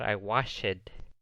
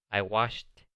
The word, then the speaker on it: washed: Nomás recuerden que con la pronunciación no van a pronunciar I washed. Van a pronunciar I washed my car yesterday. No se pronuncia la E.